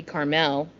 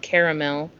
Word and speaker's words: Carmel: Caramel Indiana yeah but Carmel Indiana should be Carmel Carmel yeah see it because it's c a r m- l mhm not caramel I don't know I